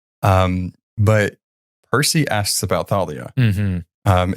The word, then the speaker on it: Thalia: me to like remember how to say her name Thalia like that because I always thought it was just Talia I don't know whatever it's that th yeah we got to